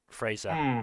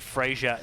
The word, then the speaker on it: Fraser: uh uh Brendan Fraser uh Fraser sorry apparently Frasier is the wrong way to pronounce it Brendan Fraser yeah Brendan